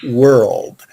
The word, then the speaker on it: world: the word world w-o-r-l-d because you have you have three consonants together l-r-l-d world that's a hard word to pronounce in uh in vietnamese you don't have that sound earld world world war difficult sound world good world good